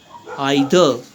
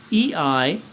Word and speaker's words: either: Either. E-I-T-H-E-R. Either. So the British pronounce it as either and the Americans would say either. Right? So in India you'll hear both the pronunciations. So follow whichever you're following.